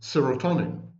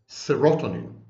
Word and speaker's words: serotonin: They combined the words serum and tonic, and they mispronounced the word.